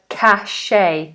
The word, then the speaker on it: cache: have pronounced this word cash cache but actually the correct pronunciation of this word is Cash just the same pronunciation as this cash cash cash you need